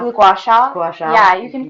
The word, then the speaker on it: gua sha: Gua sha? The gua sha.